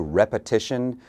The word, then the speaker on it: repetition: new word for you repetition is the noun of the verb to repeat so the pronunciation changes repeat repeat repetition repetition they both mean the